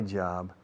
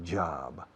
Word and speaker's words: job: My job is to make you addicted to this program. Yes, my job. Fijaos cómo pronuncio job. No digo job, digo job.